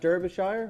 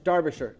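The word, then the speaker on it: Derbyshire: We got Deborah uh in in is that Derbashire? How do you say that? Darbish Darbisher.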